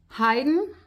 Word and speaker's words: Haydn: It's almost like I'm hiding, behind a tree, without the sound being too much of an ing sound, more like an n.